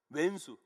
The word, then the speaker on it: 왼수: 왼수. 원수가 아닙니다. 이건 왼수라고 발음해야 돼요.